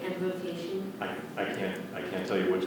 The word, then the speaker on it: embrocation: Like embrocation? I can't tell you what's correct or not. I can repeat the word if you like. Again, the principal pronunciation is embrocation, and the alternate is embrocation.